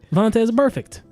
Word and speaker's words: Vontaze Burfict: Just say it. Vontaze Burfict. You enunciated weird. It's weird.